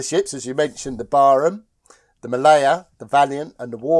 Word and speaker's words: Barham: can't pronounce Barham, because the real naval officers pronounce it in some ludicrous fashion as Braham, Braham, Braham, Braham, Braham, Braham, Braham. But I don't, I say Barham.